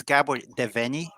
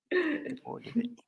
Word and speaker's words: Gabor Devenyi: And it's funny, I only pronounce it as Australians, so I don't pronounce my name anymore in Hungarian. That's just weird. I just do it the easiest. Gabor Devenyi.